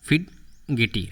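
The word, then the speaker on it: fidgety: टी यहाँ पे silent है, बट हम लोग पढ़ लेते हैं सही से, ठीक है, उन्हें ताकि याद रहे। फिड गेटी, ऐसे ही पढ़ेंगे हम लोग।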